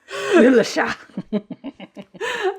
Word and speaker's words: Le Chat: Le Chat. There's no T.